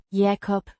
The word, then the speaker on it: Jacob: Pronounced Yah-kop. the A. as in father, the o as in go.